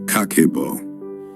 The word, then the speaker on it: Kakeibo: This is Kakeibo, pronounced Kakeibo.